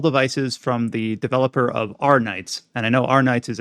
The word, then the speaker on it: Arknights: from the developer of Arknights. And I know Arknights is a Arknights, game. Isn't it? Is it Arknights? I always pronounce it Arknight. I don't know if the K is like it's Arknights, yeah.